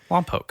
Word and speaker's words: Lompoc: Well, because now I'm trying to pronounce it right. Lompoc.